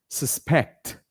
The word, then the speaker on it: suspect: I suspect not sus you put the stress on the last part which is the pecked part so you say I suspect suspect supect takes the most stress in the word and the last one